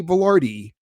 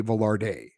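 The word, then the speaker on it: Vilardi: best effort going forward to say gay velardi and not gay velarde so there you go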